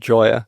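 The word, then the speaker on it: Gioia: Interestingly, a guy called Ted Joy, I think is how his surname's pronounced, Gi O. And he is a professor of jazz in an American university and generally a writer on culture.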